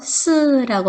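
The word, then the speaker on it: 四: 숫자가 사자입니다 사 예 4는 중국어 발음으로 스라고 하 예 죽다 할 때 발음이 스 그래서 죽을 사자와 비슷하다 해서 4자를 중국 사람들은 싫어해요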